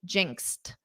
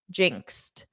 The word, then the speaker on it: jinxed: And then in the ed form, you pronounce it as a t, jinxed, jinxed.